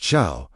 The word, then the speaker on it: shal: S H A L pronounced shaal means to ask, request, or inquire.